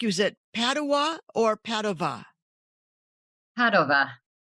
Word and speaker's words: Padova: I was gonna ask you, is it Padua or Padova?” Orna In Ireland, we pronounce it Padua because that's how it's spelled in English, but it's actually pronounced “Padova.”